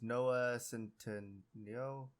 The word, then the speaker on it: Noah Centineo: Atom Smasher was Noah Centineo, I think is how you say his name.